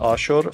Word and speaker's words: Ashur: And we mentioned the city of Ashur, pronounced Ashur.